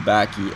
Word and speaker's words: Bacchae: So our group consensus was the Bacchae, and today I'm rolling with that.